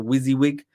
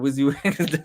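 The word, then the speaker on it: WYSIWYG: AI redesign you got the wizzy wig so that's how you say it if nobody knows you actually say like that wizzy wig design canvas and you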